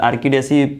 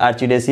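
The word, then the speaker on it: Orchidaceae: आर्किडेसी family होता है, इसको प्रोनाउंसिएट किया जाता है। आर्चिडेसी भी प्रोनाउंसिएट किया जाता है।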